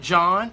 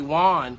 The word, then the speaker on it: Jawn: She writes back, don't be a coward, Jawn. First of all, I'm so excited that she's learned how to say my name because she was calling me Juan for a long period of time.